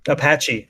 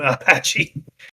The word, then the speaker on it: Apache: Apache, Apache. like Native American Apache.